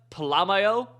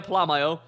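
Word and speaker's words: Polamalu: two cats here okay we're gonna have Isaiah palamaio but that's how you pronounce it Isaiah palamaio um with one AP pick artist and then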